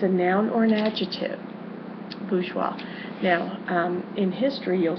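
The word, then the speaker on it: bourgeois: The next word is French word and it is pronounced bgeoa. All right. Baja. And it is a noun or an adjective. Bajgeois.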